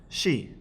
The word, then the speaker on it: し: sa the next cona is that exceptional one she in English we would spell it out as she s sh to us